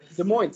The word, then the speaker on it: Des Moines: That I can't pronounce that. Des Moines.